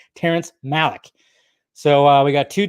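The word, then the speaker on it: Malick: to Ridley Scott and Terrence malac mik sorry Terence Malik geez I can't even say his name right Terrence Malik so uh we got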